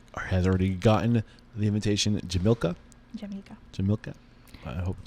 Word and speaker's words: Jamilka: so Jamila say that again jka bores Jed jamilka how do you spell that j a m i l k a